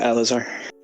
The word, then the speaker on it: Elazar: Did I pronounce that correctly? Or Yeah, Elazar. Elazar, okay, great. It's Hebrew. Elazar.